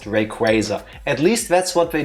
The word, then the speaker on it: Rayquaza: because I finally learned that forever I've been mispronouncing the following Pokemon's name. I always call it Rayquaza. It's Rayquaza. It's gonna remain Rayquaza. I don't know why. I cannot explain it to you, but it's pronounced Rayquaza.